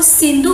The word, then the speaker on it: सिंधु: अब उनको जो सिंधु बोलना नहीं आता था, सिंधु किस तरह से प्रोनाउंसिएशन करते हैं, इसलिए वो स को क्या बोलते थे? ह बोलते थे।